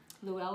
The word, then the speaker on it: Llewellyn: Richard, and I'm going to say the last name wrong because it's Welsh. Do you want to say that? Llewellyn? Oh, it's Llewellyn.